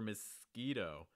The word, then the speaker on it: mosquito: in a moment um for mosquito make sure that the o sound is strong enough it's not mosquito it's mosquito just to make sure that push is really clear notice that first syllables also reduce what that schwa sounds like mosquito second one i mean